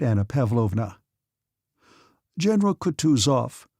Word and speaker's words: Kutuzov: "General Kutuzov," said Bolkonsky, speaking French and stressing the last syllable of the general's name like a Frenchman, "has been pleased to take me as an aide-de-camp."